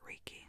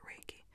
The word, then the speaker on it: Reiki: Some pronounce it Reiki, some pronounce it Reiki. Some pronounce it different ways.